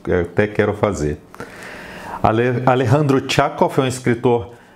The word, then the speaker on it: Alejandro: um escritor brasileiro Então deveria pronunciar Alejandro não sei eu pesquisei no YouTube e vi que eles pronunciam Alejandro essa pronúncia espanhola mesmo estamos tando aqui no Brasil então eu vou eu vou manter essa pronúncia eu fico pensando também